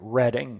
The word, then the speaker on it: Reading: Or Reading. Oh, Surly Dev. I'm so glad you said that. You're absolutely right. Reading, United Kingdom. Yes. UK with all their wacko pronunciations. I say wacko.